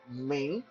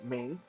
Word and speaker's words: Ming: then after sin there's a mean m-i-n-g mean uh this is the name